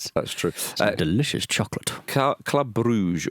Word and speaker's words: Brugge: Club Brugge, or Club Brugge, as they insist on being pronounced, against Aston Villa tonight.